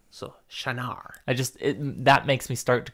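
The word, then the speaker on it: Shienar: So you are actually correct. Shanar. It just... And the shy, you said, that's correct, but the emphasis is on the second syllable. So, Shanar.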